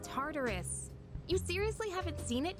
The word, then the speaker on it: Tartarus: start checking out that Tower Oh you mean Tartarus tartar sauce what not that hard to pronounce tardus it's a place that holds the key to